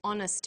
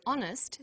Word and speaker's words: honest: happy man but an honest man the H is not pronounced so honest sounds like it starts